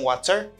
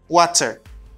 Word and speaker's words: water: Water. Mais moun qui aux États-Unis, prononce T tant qu'on D rapide. Yo relé ça fast D ou bien de flat T en anglais. Donc, il dit water.